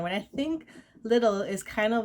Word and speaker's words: Lidl: i think it's pronounced little or liddell i think americans would say ledell but here it's pronounced little um it's actually a